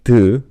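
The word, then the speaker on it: ㄷ: So this one being d, matter of fact, slightly similar to t.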